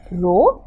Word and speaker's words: rho: used for density is the symbol which is pronounced as rho but also you can write just write a